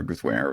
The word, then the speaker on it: Guthwine: So Guthwine for the Guthwine, it's pronounced.